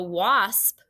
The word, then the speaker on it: wasp: a wash ah what after a w if you hear an ah sound like in water or wash what vowel is it hopefully you remembered for